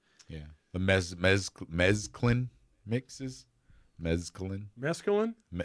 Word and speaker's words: mesclun: Mesclun?